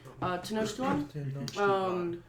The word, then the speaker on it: Tenochtitlan: Tenochtitlan. I thought it's Titlan though. It's Titlan. Yeah, Yeah. Tenochtitlan.